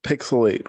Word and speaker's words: PixelHate: the description this is pixelate where the H is silent but the hate is oh so real I'm here with my